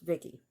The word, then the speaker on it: VICI: So VICI, an acronym for Voice Input Child Indicate, pronounced Vicky.